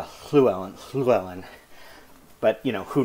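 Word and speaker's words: Llewellyn: bed and breakfast where a guy pronounced Fluellen clue Ellen clue Ellen with a kind of a percussive at the beginning clone Sarah attends to say Sue Ellen I think it's more of a clue Ellen Fluellen but you know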